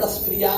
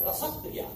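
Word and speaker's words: रसप्रिया: इसका उच्चारण रसक्रिया नहीं है, रसक्रिया। व्याकरण में नियम है, अच्छा जो संयुक्ताक्षर रहेगा उससे पहले जो वर्ण होगा उसमें अ का उच्चारण रसक, जैसे स्थिति पर कहते हैं, गलत बात।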